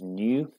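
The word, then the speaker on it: ν: um for which we use this symbol here pronounced as new okay so it's like a V pronoun as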